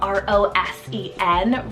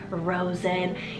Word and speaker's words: Rosen: below next up we have a rosin the r-o-s-e-n Rosen this is one of those names that are romantic and you can give the nickname Rose too I think that's kind of cute for a boy Rosen even Zen for that nickname oh I love